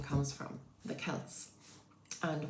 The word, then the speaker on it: Celts: But that's where the name comes from, the Celts. And we give it a hard C.